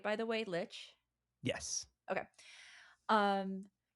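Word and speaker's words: lich: And then you wake up in this weird it's called like a litch house. Am I pronouncing that right by the way, litch?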